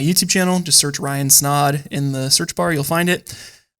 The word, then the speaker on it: Snaadt: everybody my name is Ryan snod it rhymes with odd and welcome to the